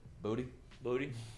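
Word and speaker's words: Boutte: of camp and they're like how do you pronounce it he said booty booty that um okay well keyshawn booty there you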